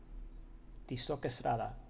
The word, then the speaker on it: Tizoc Estrada: Tizoc Estrada. It would be the proper pronunciation.